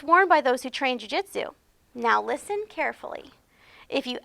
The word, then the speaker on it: jiu-jitsu: you something have you ever heard of jiu-jitsu Julie what as leo confused the poodle corrected him it's pronounced jiu-jitsu no I've never heard of Juhi Jitsu said Leo it's a gentle art of self-defence